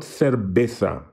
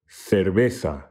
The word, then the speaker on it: cerveza: together extremely lightly there not serbetha not an explosive bee but a very soft one there do pause the video until you're comfortable pronouncing this at least in my case very useful word cerveza so then how would